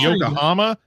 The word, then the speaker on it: Yokohama: I said I said I said something really stupid when I tried to pronounce it and y'all were like, "You mean Yokohama?"